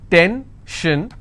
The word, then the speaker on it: tension: stress on gore s-i-o-n tension pension so how many syllables in tension two ten shin i will stress on ten if i have pension